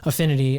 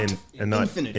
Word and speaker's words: Affinity: To the folks that don't know, it's Affinity. Yes. Affinity. And not Infinity. Infinity.